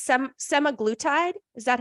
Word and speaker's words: semaglutide: me if I butcher it but it's some semi-glue tied is that how you say it I'm a